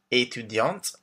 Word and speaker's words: étudiante: So we have professeur, informaticien for men, informaticienne for women, chargé de clientèle, étudiant for men, étudiante for women, the T pronounced at the end, artiste, artist, directeur for